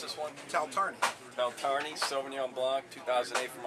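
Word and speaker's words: Taltarni: Right, so how do you pronounce this one? Taltarney.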